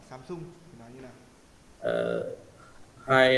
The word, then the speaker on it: Samsung: đang làm việc ở Samsung.